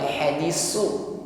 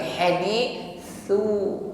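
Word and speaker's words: حَدِيث: hamz, tidak dengan shafir, bukan hadisu tetapi hadithu, nafas yang berhembus tipis. Hadithu dhaifi bo, tebalkan pengucapan bot, sifatnya iltibaqa.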